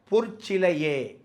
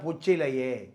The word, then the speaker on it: பொற்சிலையே: நீங்கள் சிற்பி செதுக்காத பொற்சிலையே, இதை விஸ்வநாத ஜேசஸ் பாடும்போது அதில் அந்த வார்த்தையே தப்பாக போயிடும். சிற்பி செதுக்காத பொச்சிலையே, அது கெட்ட வார்த்தை அது.